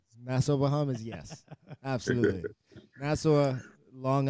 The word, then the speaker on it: Nassau: Yeah, Is that how you pronounce it? Yeah, Nassau.